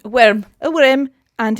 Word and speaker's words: wyrm: and it should be small and it's big, but this is worm spelled with a Y. Wyrm.